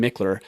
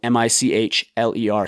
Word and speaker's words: Michler: It's at my personal Instagram, so it's at Michler, and my last name is spelled Michler.